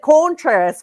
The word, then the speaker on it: Contreras: Wilson Contreras forever. Like, it's incredible. I love it. Anyway, continue. Yeah, he definitely hits the Contreras. Yes. Like, and that is what the pronunciation guide says you should say.